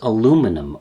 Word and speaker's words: aluminum: The first material, and the one I'm using, is aluminum, or aluminium if you prefer. The word can actually be pronounced and spelt two different ways.